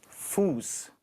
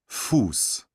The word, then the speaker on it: Fuß: يلا بينا حرف الاس ست اللي هو اس. يلا نسمع بقى الكلمة وتقول لي فيها اس ولا لا. Fuß, سمايل فيس، ساد فيس. سمايل فيس. Fuß, Fußball, سمايل فيس. Fußball. Hand, لا، ساد فيس. Hand, دي اشتغاسي، دي اشتغاسي، هايسن، فوس، جروس، فوسبال. لو خدت بالك من كلمة